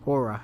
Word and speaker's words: Hora: It's high time high time go back to Hora or Hura. Let me see. Let's see the pronunciation. Give me a wee moment. Hora, I was correct, Slakia.